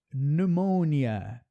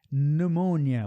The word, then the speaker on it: pneumonia: Pneumonia. Esse GN também a gente tira o G ali. Pneumonia. O P também some. Pneumonia.